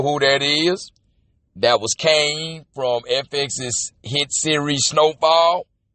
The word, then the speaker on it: Kane: It stars Wesley Snipes, Michael Wright, who y'all know is Eddie King Jr., or as we pronounce it, Eddie Kane Jr.